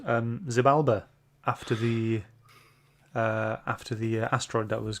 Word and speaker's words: Xibalba: Yeah, if it starts with an X, it's pronounced like a Z, isn't it?